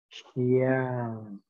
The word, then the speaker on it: Xiang: El tercer sonido se pronuncia Xiang.